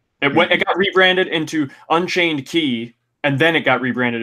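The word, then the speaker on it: χ: as a browser game, which was just called Kingdom Hearts Key CHI with it's Latin X is pronounced key.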